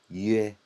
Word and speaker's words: yue: So just remember, if you see a Y followed by a U, it's definitely this U.